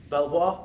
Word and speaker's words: Belvoir: franchised Network as our Belvoir I want to say beaver because that's how it should be pronounced hear hear